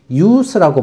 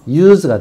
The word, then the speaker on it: use: 여기에 우리가 사용이라는 명사로 사용할 때는 요것이 발음이 use라고 발음됩니다. use. 무성 발음이죠. 무성음. use가 되고, 이게 동사가 돼서 사용하다라는 동사로 사용되면은 발음이 유성 발음답니다. 유성음. use가 되죠.